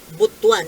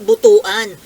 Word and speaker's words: Butuan: ha Kayo po ang ang pronunciation po ng butwan eh hindi Butuan butwan gastos Butuan Butuan